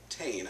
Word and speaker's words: Tain: says on the bottle uh i would have pronounced that toy but i found out from glenn morty's website is pronounced tane i was that was the irish pronunciation toy